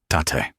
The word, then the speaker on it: Tate: "This is my sister, Tate." He pronounced it Ta-te.